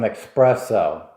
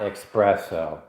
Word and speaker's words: espresso: I'm going to get some espresso. It's not espresso. It's espresso.